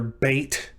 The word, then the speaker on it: bet: again this is the letter bait and it's pronounced like the letter b in the english word boy for that reason it